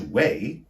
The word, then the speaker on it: weigh: confuse the verb to weigh how much do you weigh w e i g h where the GH is silent with the noun weight